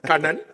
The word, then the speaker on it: Kanna: insights all right so even AI couldn't pronounce my name Canan uh I'm from chai I studied in in